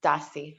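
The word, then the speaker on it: Dassi: say something yes it looks like we have dassey d-a-s-s-i i hope i'm pronouncing your name correctly yes it's dassey hi hadassah how are you um the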